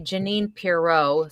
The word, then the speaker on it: Janine Pirot: So I go by Janine Pirot, spelled like Bordeaux wine.